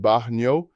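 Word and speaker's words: baño: Bathroom is bano pronounced baho. The yan makes a NY sound like the NY and canyon.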